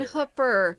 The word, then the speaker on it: Hooper: Not Hooper. Hooper. How do you pronounce it?